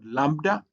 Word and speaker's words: lambda: Then you have what is called lambda. Uh lambda is uh is uh uh also written like this and it has a l sound like lamb and it is translitated